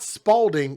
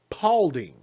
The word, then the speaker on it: Paulding: here no it's not it's not spalding it's paulding a woman is accused